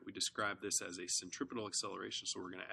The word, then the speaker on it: centripetal: It's important to recognize that this is pronounced centripetal, P-E-T-A-L, and not centrifugal, F-U-G-A-L, which means center fleeing, and is not a thing.